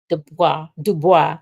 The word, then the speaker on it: Du Bois: Du Bois, that's how you pronounce it, and Reverend Adam Clayton Powell Jr.,